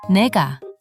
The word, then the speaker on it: 내가: Similarly, 나, 가 becomes 내가.